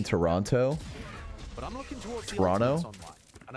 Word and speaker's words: Toronto: attempt just trying to don't pronounce a second T in Toronto but I'm looking toward